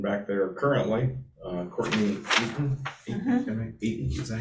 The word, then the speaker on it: Eaton: Eaton, is that how you say it? Mhm. I think it's Eton, like Eton College is what I got.